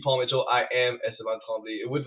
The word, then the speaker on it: Esteban Tremblay: Yeah, the accent, the right pronunciation. So say it right now. Esteban Tremblay.